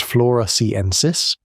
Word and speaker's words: floresiensis: On the island of Flores, a few hundred miles east, a 3.5-foot tall human relative called Homo floresiensis, pronounced floresiensis, was still alive.